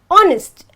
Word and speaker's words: honest: I'll tell you why when I pronounce the word honest I have to say honest and not honest so automatically this becomes silent and the first word